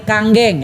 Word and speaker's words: Kangen: Ternyata mesin tadi tersebut akan memproduksi air namanya air kanggeng. air apa? Kang ya atau kanggeng water. Nah, kanggeng ini bukan kangen bacanya Bapak Ibu sekalian ya.